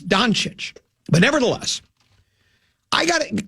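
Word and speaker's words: Dončić: It's Doncic.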